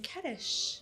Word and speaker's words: Ketish: it's so beautiful and it rhymes with fetish it does everyone's like